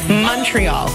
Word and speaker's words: Montreal: born in montreal no because you're doing sort of a french and trying to pronounce it correctly montreal we pronounce it montreal like it's with the you money and we always know